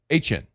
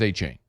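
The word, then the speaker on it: Etienne: I just know too many people with that last name that don't say A-Chain. I don't know anybody with that last name other than A-Chain. I don't know anybody else that says A-Chain. Now you do. I think you got to respect the man's wishes.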